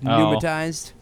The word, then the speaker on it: pneumatized: the the pre pneumatized I think just IGN the P just pneumatized sure pneumatized yep ignore the P did did he cancel